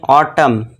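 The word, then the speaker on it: autumn: यदि किसी वर्ड के अंत में एम एन हो तो वहां पे क्या होगा? एन साइलेंट होगा।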